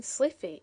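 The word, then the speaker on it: slithy: How to pronounce sliffy toes? The i in sliffy is long as in wythe and toes is pronounced so as to rhyme with groves.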